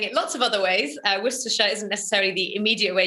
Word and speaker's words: Worcestershire: If you're from the UK, you know that you say this Worcestershire. If you're not from the UK, you'd be forgiven in saying it lots of other ways. Worcestershire isn't necessarily the immediate way you'd say it.